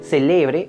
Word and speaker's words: celebre: Si el acento está en la penúltima sílaba, celebre está en presente. Ojalá hoy celebre mi cumpleaños.